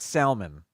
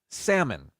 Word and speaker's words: salmon: the L it's not salmon it's salmon without the L the L is silent but when I see